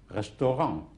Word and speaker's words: restaurant: ENT and ANT is pronounced ang at the end, like restaurant would be restaurant. You do not sound the T.